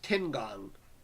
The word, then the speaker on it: Tiangong: Tiangong? I'm all stuffed up. Tiangong. What are your pronouns? Uh-oh, not that again. It's pronounced Tiangong.